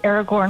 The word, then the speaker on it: Aragorn: Aragorn.